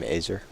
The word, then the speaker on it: Azer: Pretty cool name, Azer. Yeah. It's like laser but without the L.